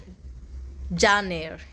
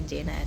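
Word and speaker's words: Jane Eyre: फिर जॉन एयर, उसका correct pronunciation है जॉन एयर, जो हम आप लोग को वो प्रीवियसली आपको बोला था कि जेन आयर है, वो जेन आयर नहीं है, जॉन एयर है, प्रोनाउंसिएशन में गलत हो गया।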